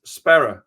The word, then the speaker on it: Sparrer: Those hard RS that we're Yeah. And I'm like, it's Spara. I I believe I believe I I might be wrong about that, but I'm trying to pronounce it correctly just out of respect